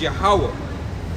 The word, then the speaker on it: Yahawah: His name is Yahawah. All right. This is it in the ancient Hebrew. This is how you would say it. The English pronunciation of it.